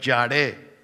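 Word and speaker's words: ירא: La palabra temor es la traducción del término hebreo yaré, con Y y acento en la E, yaré, que significa temor reverente y santo para Dios.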